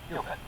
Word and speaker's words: Cupit: He says if you want to remember how to say it properly, just remember Q stick like in pool. It's Cupid.